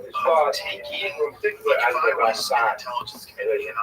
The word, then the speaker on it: Ramban: Rambam is pronounced with the emphasis on the first syllable, Rambam, and Ramban is pronounced with the emphasis on the second syllable.